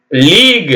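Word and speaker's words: league: இ rogue எப் ஏ டிஐ ஜி U Edith லீக் இப்ப விளையாடுறாங்க இல்லைங்களா இந்த லீக் அந்த லீக் நாம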